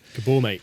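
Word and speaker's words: Maté: called gabor mate gabor it's spelt mate but i'm pretty sure it's not pronounced mate gabor mate yeah gabor mate um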